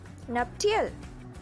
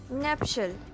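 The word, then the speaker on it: nuptial: Okay, now moving on टू our next word which is नप्टियल। बिल्कुल नहीं, इसका सही प्रोनाउंसिएशन है नप्शल।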